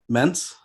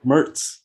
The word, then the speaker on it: Mertz: Uh, our buddy, how do you pronounce his name? Mentz? Yep, Graham Mertz. Mertz.